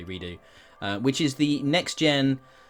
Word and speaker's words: Redux: to talk about uh observer system redo or redux depending on how you like to pronounce that word but i personally say redo which is the next